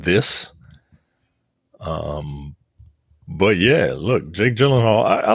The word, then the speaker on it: Gyllenhaal: Starring Jake Gyllenhaal, which is apparently the proper pronunciation of his last name, according to him.